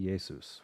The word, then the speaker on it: Jesu: So this is the famous, actually, in German, it'd probably be Jesus, right? In German, a J is pronounced like a Y.